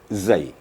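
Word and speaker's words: زاي: yang pertama Zai he Zai itu memang waktu membacanya gigi kita dirapatkan lidah dipertemukan dengan Gigi he kemudian gigi kita dirapatkan kemudian sedikit ada penekanan di keluarah suara desisir safirnya Zai I Zai Ya ituitu tapi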